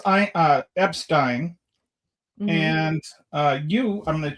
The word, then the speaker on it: Epstein: You pronounce it the German way.